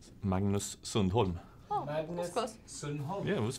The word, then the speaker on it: Sundholm: Sweden how do you say your name Magnus Sunol Magnus Sunol yeah it was very very from